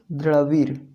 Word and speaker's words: द्रविड़: तो इसका आंसर लिखिएगा कि इसके सिंधु घाटी सभ्यता के द्रविड़ लोग थे। कौन थे? द्रविड़। देखिएगा इसका प्रोनाउंसिएशन, द्रविड़ लोग थे।